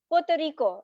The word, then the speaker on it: Puerto Rico: said, na Puerto Rico, it's not Puerto Rico. The normally people who do not understand or know Spanish, they will pronounce it with staccato, cut करके. But Spanish is such a sweet language. वो बहुत लहरा लहरा के बोला जाता है, with lot of movement. So it's Puerto Rico.